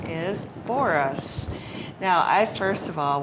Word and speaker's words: Booras: It does, Booras. So Yeah. Booras, normally we would spell B-O-R-I-S, right? But you spell it B-O-O-R-A-S.